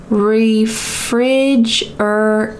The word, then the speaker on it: refrigerated: look at this pronunciation refrigerated refrigerated that final tea is going to going to sound like a D in American English because it's surrounded by